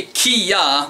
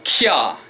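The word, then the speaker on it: きゃ: Not a ki-ya, but a kya. Kya, like a kya, kya ki kyu kya kyo. Like if you're going to quantum mechanics, well that's a wa sound. Kya, kya, kya.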